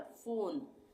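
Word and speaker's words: phone: उसी तरह से फोन, पी एच यहाँ पे एक साथ है तो ये फ बन गया, फोन।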